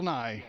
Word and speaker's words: Nighy: I believe his name is pronounced Nahi though. I've heard it both ways, and until I hear him say it, I'm gonna say Nye.